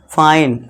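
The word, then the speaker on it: fine: इसके बाद एन के लिए न बस और इस इ के लिए कुछ नहीं करेंगे। साइलेंट है तो ये क्या बनेगा? फाइन।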